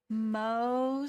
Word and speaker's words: Mohs: Is it like Curly Moe, Larry? Or Mohs, like Ma? Mohs. So you've already got it.